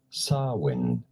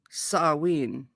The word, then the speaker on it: Samhain: Samhain. I'm such a doof. Half of the year. Samhain. How do you go about pronouncing it? Samhain.